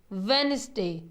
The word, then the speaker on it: Wednesday: Third है वेडनेसडे, WEDNESDAY, WEDNESDAY, वेडनेसडे, वेडनेसडे, वेडनेसडे। इसमें D silent होता है, डी हम नहीं बोलते, वेडनेसडे।